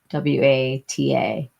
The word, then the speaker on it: Wata: W A T A Wata. And that's how they say it in PWA.